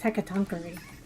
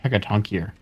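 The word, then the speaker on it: Hecatoncheires: I think it's pronounced Hecatonkary. What these things are called. Looks more like Hecatonkier. Yeah, but I googled it and I'm pretty sure it said it was Hecatonkary. Like, so it's eerie.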